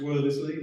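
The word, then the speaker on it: Wriothesley: a bit more about Henry werthersley if it's pronounced wordlessly like that uh the third Earl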